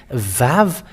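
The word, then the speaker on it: ו: But the letter Vav is V indeed. We can see it. It's bigger on the screen. Vav. It is pronounced as V.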